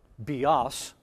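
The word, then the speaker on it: βιός: that the Bow's name BOS with the accent on the last syllable is life BOS Accent on the first syllable but its work is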